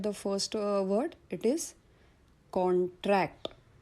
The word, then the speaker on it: contract: नाव लेट us look at some examples words which are used both as nouns and verbs, and when the word is used as a noun, first syllable is stressed, and when it is used as a verb, second syllable is stressed.